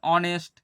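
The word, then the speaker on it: honest: এমপির ক্ষেত্রেও তাই একই ভাল সাউন্ড আসছে এন অনেস্ট এইচ দিয়ে শুরু হচ্ছে কনসোনেন্ট দিয়ে কিন্তু উচ্চারণের ক্ষেত্রে আমার আসছে কি ভাওয়েল সাউন্ড এন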